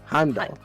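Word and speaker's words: Heimdal: That's how you pronounce it, by the way. Heimdoll him doll. Yeah, the art is silent.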